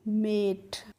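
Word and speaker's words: mate: एम ए टी ई है तो एम को बच्चों म पढ़ेंगे। ए को ए की मात्रा पढ़ेंगे और टी को ट। तो इसको पढ़ेंगे हम मेट।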